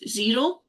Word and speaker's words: Xero: So for instance, for accounts, I use Xero, which is spelled Xero, and basically it connects your bank